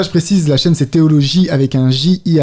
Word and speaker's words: Theoloji: Voilà, j'ai fait théologie. Donc, c'est là d'où ça vient, théologie. Donc, ça s'écrit J-I à la fin.